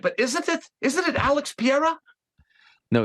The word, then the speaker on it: Pereira: Well, Glenn had something more on it. He had like Fajera. It would say there was almost a roll of the tongue. That I'm not part of.